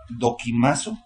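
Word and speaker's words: δοκιμάζω: Probaos, del griego dokimazo, con K, dokimazo, acento en la A, que significa aprobar por implicación, poner a prueba, probar.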